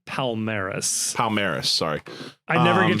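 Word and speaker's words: Palmeiras: in second place tied on points with uh Polarmis. Is that right? Palmeris. Palmeris. Sorry. I never get to pronounce things correctly.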